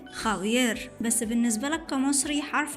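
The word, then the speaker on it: Javier: الأجانب بيتعذبوا عشان ينطقوا حرف الخوطة في الإسباني لأنه بيتنطق خ، زي كلمة خاوير، بس بالنسبة لك كمصري حرف الخاء ده لعبتك، بتنطق خالد وخيار عادي جدا.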